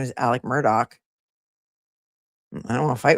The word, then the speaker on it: Murdaugh: All in caps is yelling at me and says the way they say his name Murdo is the way it's pronounced.